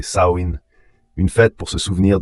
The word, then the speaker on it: Samhain: Les Selt appelaient ce festival Samein prononcé Saoin.